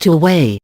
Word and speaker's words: Huawei: Shenzhen-based Huawei, pronounced Huawei, is the world's second-largest seller of phones behind Samsung, according to IDC.